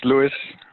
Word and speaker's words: Louis: So is that Lois? Is that how you say that one? It's Louis. Louis?